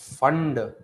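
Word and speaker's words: Pfund: Lyman Balmer question bracket फंड P silent है बेटा है ना फंड और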